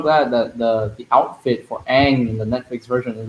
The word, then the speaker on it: Aang: My only hope is that they pronounce Aang's name right. Hi, Aang. Yeah. Not hi, Ong. Aang. Why do they call him Aang? No. No, it's not. Aang.